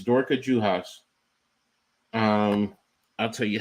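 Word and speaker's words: Juhász: It's Dorka Juhas. I'll tell you how to spell it though. But yeah, I remember watching her in the Pac-12. But it's Juhas, Juhaszz.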